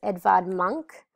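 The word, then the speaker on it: Edvard Munch: It um reflects uh an artist known as Edvard Monk and it's spelled E D V A R D M U N C H.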